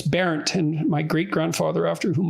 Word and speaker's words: Bernt: was parodied as burnt, because that's Bernt, that's how it's spelled. And so it was an object of mockery, but so I didn't look into it much. But it's Barent, and my great-grandfather, after